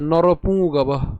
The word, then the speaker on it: নরপুঙ্গব: এর পরবর্তীতে নরপুঙ্গব। এখন পুঙ্গব, উঁ, উঁর উচ্চারণ নাসিক্য অর্থাৎ নাকে উচ্চারণ হবে। আমরা বাংলায় বলে থাকি উমো, কিন্তু সংস্কৃতের উচ্চারণ কেমন? উঁ। তাহলে এটি অবশ্যই কোথায় উচ্চারণ করতে হবে?